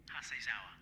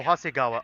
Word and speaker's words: Hasegawa: Hasezawa. Hasezawa. Who's Hasezawa again? Hasegawa? Oh, Hasegawa. Oh, he got the name wrong.